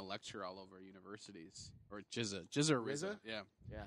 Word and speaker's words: GZA: He's doing he's been doing a lecture all over universities or Jizza or RZA. RZA? Yeah, Yeah. one of them. They let a guy named Jizza Yeah.